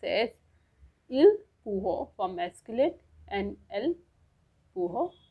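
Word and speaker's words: ils pourront: The last one इज they will be able, which will pronounce as इल पूहो for masculine and एल पूहो for feminine.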